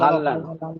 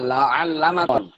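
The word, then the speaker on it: لعلما: Doctor সাহেব লাহাল্লামা না লাআল্লামা doctor সাহেব স্বরে উচ্চারণ হবি স্বরে না হ উচ্চারণ হই। না আইন আইন হাও না উচ্চারণ করা উচ্চারণ এটা করেন কি লাআল্লামা হ্যাঁ এটা কি লাগাল্লামা লাআল্লামা হবি না হ্যাঁ হ্যাঁ হ্যাঁ লাহাল্লামা? হ্যাঁ হ্যাঁ লাআল্লামা আইন আইন উচ্চারণ হবে আচ্ছা লাআল্লামা লাআল্লামা ফালা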